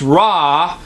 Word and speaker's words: Ra: you get our a so raw our aw sounds the same as raw the Egyptian false god